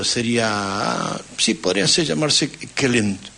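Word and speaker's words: Kjellén: Suecia se pronuncia la la J se pronuncia como I si vos decías Juan diría ionas Y entonces podría ser kelen Sí rudolf kelen para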